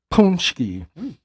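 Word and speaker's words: pączki: Mind you guys, when you see these in the store, it's spelled P A C K Z I, but it's pronounced punchki.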